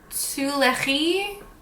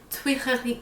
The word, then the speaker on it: Tuileries: The shade Tuileries. Tuileries. Oh boy, okay, I have to look this up because I don't know how to say it. Oh, it was right. Tuileries.